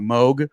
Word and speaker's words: Moug: Moug. No, Moug is correct.